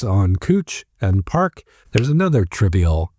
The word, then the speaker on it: Couch: It's spelled couch, but the person pronounced their name Cooch. So it's Cooch Street. It's not Couch Street.